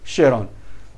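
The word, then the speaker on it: Charon: is having satellite Sheron spelled out as cheron but we have to pronounce as Sheron which is also moving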